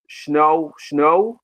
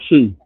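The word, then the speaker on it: Shough: I think that I think that um Tyler Snow, how do you pronounce his name? Tyler Shu.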